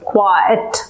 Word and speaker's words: quiet: go to all therefore it - two syllables quiet quiet quiet restaurant et